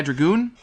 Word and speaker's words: Dragoon: And yes, that is pronounced Dragoon.